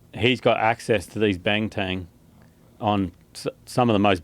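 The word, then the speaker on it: Banteng: heard of those things cattley cattle what's a bang Tang what does it look like uh Jamie will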